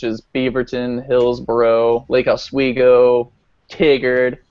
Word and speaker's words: Tigard: Beaverton Hillsboro Lake iGo Tigard or tiger however you want to pronounce it I I like Tiger but um and yeah